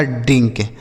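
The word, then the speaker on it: drink: उसके बाद आई है। तो आई से छोटी इ की मात्रा लिखेंगे। एन और के एक साथ है तो एन से आधा नौ। और के से क लिखा ड्रिंक।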